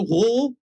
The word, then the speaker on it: Rohr: The name on it is Martina Rohr. That's R-O-H-R. If my A-level German is still functioning, I think that pronunciation is correct.